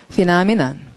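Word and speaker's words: phenomenon: 는데 수비를 진짜 하는 사람은 디펜더 이하를 붙이면 수비하는 사람이니까 구분 잘 돼야겠고 그다음 옆으로 가서 중요한 명사 자 발음은 피나미넌 피나미넌 피나미넌 역시 이제 이렇게 보면서 팬을 보고 이걸 그 환상을 영어로 환상을 팬텀이라고 하는 그 팬이다.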